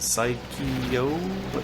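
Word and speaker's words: Psikyo: as well here's Strikers 19452 from 1997 from psycho that's how you say it and I think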